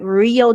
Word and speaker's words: Rio de Janeiro: Não tá errado você usar sua pronúncia de Rio de Janeiro, tá? Mas geralmente o pessoal vai ficar rio, rio. Aí sai real de Janeiro, o o nativo de inglês fala mais assim.